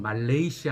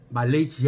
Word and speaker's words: 말레이시아: 더 페드로 액션 혹은 말레이시아 합니다 아 말리지 하라고 발음 하시는 분들이 가끔 있는데 그건 좋지 않은 발음입니다 말레이 플러스 씨아 말레이 해 섬들 이런 합성 하거든요 그래서 빼도 레이 션